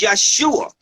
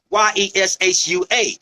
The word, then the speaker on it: Yeshua: that his name is Yeshua. Yeshua. There was no J's 750 years ago. The J is only about 750, period.